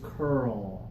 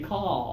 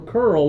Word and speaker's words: curl: curl Cur yeah so a lot of people want to say call I'm going to call my hair it's like really like hey hair how are you no that's not what we want to do right we're going to curl our hair let me do this